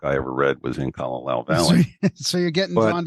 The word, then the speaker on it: Kalalau: How do you pronounce it? Kalalau.